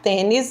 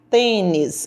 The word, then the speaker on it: tênis: correta então a letra a antônio vai jogar tênis no sábado de manhã eu vou reescrever essa